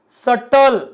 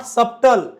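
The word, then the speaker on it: subtle: बट नाही ट शंका सटल नॉट सबटल महणजे सूक्ष्म अत्यंत बारीक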